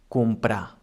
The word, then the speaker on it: comprar: Also, if we have one R after a consonant, it also sounds soft, as for example in the verb comprar.